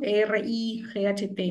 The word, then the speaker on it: Wright: Bueno, Wright, ¿no? Se escribe como si fuera escritura, W, ¿no? R-I-G-H-T, ¿no? Ujú. Right.